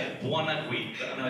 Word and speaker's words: Buonaguidi: Everyone knows that's spelled. That's how you say it, Buonaguidi.